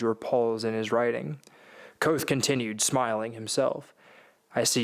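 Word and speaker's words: Kvothe: his smile broadened mine my name is koth pronounced nearly the same as quoth names are important as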